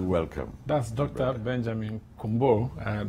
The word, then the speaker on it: Kunbour: Brother Benjamin Kunbour. That's what he's taught me to pronounce his name as.